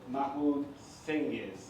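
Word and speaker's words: Mahmut Cengiz: Mahmut Cenzig. Pronounce that one right?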